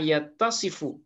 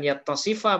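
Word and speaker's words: يَتَّصِفُ: Jadi kalau dia masuk ke fi'il mudhari tetap saja bacaannya yastahilu lillahi ma yattasifu. Nah, jadi bukan yattasifa bacanya tapi ma yattasifu.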